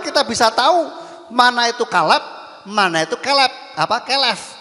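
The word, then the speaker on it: כלב: Bacanya dari kanan ke kiri, ya. Ini kof, ini lamet, ini bet. Bacanya kalep begitu kalau ada tanda bacanya.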